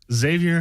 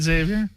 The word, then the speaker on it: Xavier: Algerian right next to you we have uh Xavier axelon yes did I pronounce that right Xavier perfect oh great and he is uh he